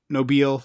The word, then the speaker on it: Nobile: The Phil Nobile, like Batmobile.